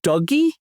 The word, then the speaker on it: DOGE: after the meme coin apparently the official government pronunciation isn't the meme pronunciation the official government pronunciation is supposed to be dougy I'm not kidding I